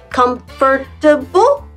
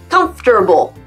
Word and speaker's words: comfortable: Combien de syllabes, à ton avis? 4? Comfortable? Non. Il y en a 3. Comfortable.